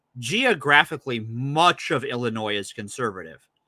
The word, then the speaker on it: Illinois: the same thing in Illinois um so first of all they don't even pronounce the S so there's already a